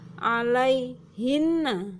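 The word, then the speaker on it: عليهنّ: Kemudian la junaha alaihinna ya, jadi sebelum hunna ada ya mati maka dibaca hinna.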